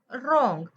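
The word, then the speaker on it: wrong: डब्ल आर ओ एन जी त्याला काय म्हणायच रॉंग रंग वगैरे असं नाही म्हणायच रंग आर ओ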